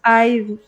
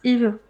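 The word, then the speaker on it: Yves: Mm, Surely Eve Beauty because they pronounce Ive, but it's Eve.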